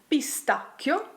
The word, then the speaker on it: pistacchio: What about words such as PISTACCHIO? The sound is hard here, thanks to the ACCA.